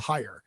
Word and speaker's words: Haier: I believe it's pronounced Haier.